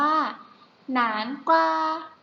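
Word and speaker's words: 南瓜: คะ อ่ะ เนื้อ หา คัก ทอง อ่าน ว่า หนาน กว่า แต่ หนาน คว้า หา อีก รอบ นึง นะ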